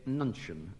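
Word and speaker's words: nuncheon: And Scott James, your word is a nunchion, like lunchon, but with N instead of L.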